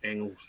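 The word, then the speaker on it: Engels: kind of the G the G part of it the G is not pronounced so it's Engles okay it's not not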